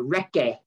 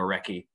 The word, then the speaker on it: recce: Is it recce? How you pronounce it? Recce. You would have heard R-E-C-C-E. And it is reconnaissance.